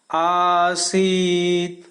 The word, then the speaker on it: आसीत: आसीत, स में भी बड़ी ई की मात्रा है तो जो छोटी ई है उससे दुगना समय इसे उच्चारण करने में लगना चाहिए। और त यहाँ आधा है